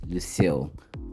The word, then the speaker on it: Lucille: The right pronunciation is Lucille.